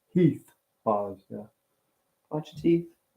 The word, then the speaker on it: Heath: of the heath bars I always say heat Buzz because that's how they say it in Fall River Massachusetts but it's Heath laws yeah watch your teeth